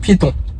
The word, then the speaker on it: Piéton: Et comme ça s'écrit, comme ça se prononce, Piéton.